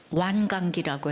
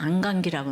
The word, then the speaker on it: 완강기: 예 너무나도 일부 땐 발음을 잘못했지만 완강기라고 해요 인터넷에 보니까 안감기라고 나왔는데 완강기이 왕관계를 타고 내려와야 한다는데요 일부